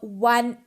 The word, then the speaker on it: one: sound is of consonant now see these words a european uh university a one rupee note these all words start with a consonant sound these all words are